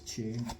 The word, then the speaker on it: Choi: And it spells like Choi, but it's pronounced as Che, if I has been told lately.